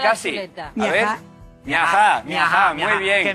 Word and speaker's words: Miajadas: Miajá, con acento ya en no la A, tenemos se más escribe tinta. Miajás, ¿vale? Y lo pronunciamos nosotros. Las S no las pronunciamos, las aspiramos, no las comemos, ¿verdad?